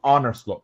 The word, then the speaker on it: Arne Slot: got any slot next and it's honor slot by the way is where you pronounce it um and and uh